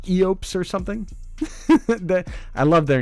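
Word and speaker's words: Eopie: This Jedi prefers to travel more primitive means, or by more primitive means, like this Eope, that's how you say it, whenever possible.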